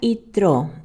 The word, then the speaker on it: Yitró: hebreo es y Trump uno lo inscriben con i Latina y otros con y se pronuncia ytro y Trump muy bien